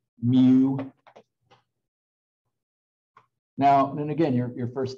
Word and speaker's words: mu: and there's even another greek letter that one's pronounced mu now and again your first thought should be